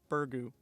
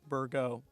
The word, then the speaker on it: Burgoo: people pronounce it as bergu or burgo eliminating the second o depending on who you talk to you're going to hear